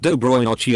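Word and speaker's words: Доброй ночи: And I said Cisadilla L, which is pronounced Dobroy Nochi and means good night.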